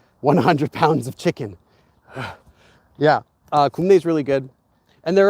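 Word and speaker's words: 굽네: For regular chicken, my favorite is kumnae, which is spelled as kup and ne. Like yes, ne.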